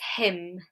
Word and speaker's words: hymn: Someone said letter H. It's not letter H. We actually do pronounce the letter H in this word. It's another one. A lot of you are saying letter N. That is correct. It is the letter N. So it's hymn.